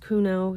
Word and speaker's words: Cuneo: And Kate Kuno, it looks like Cuneo, but it's pronounced Kuno.